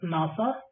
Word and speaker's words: NASA: If someone says NASA, it is pronounced as a word, not as a single characters like NASA.